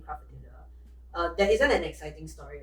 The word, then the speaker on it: atelier: I know some of you asked like how in the world we came up with the name Craft Atelier.